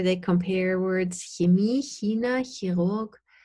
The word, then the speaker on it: Chirurg: compare words Chemie, China, Chirurg. And I actually don't pronounce the R. I say Chirurg or Chirurg, and Cheops, from Egypt.